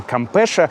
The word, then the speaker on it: Campeche: Называется Кампеша. Вот так вот пишется это слово.